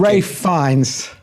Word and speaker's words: Ralph Fiennes: You both mispronounced it. It's okay. Ralph Fiennes.